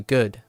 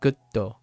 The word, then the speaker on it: good: Like, it's not frustrating or sad or angry that someone keeps pronouncing like gutto as opposed to good. Like, there's no pause. It's good, not gutto, right?